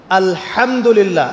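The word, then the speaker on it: الحمد لله: আলহামদুলিল্লাহ। এই হা এর মাখরাজ কোথায়? হা এর মাখরাজ কোথায়? বলেন একজন কন্ঠনালীর মাঝখান থেকে এখান থেকে আপনি উচ্চারণ করছেন আলহামদুলিল্লাহি রাব্বিল আলামিন অর্থ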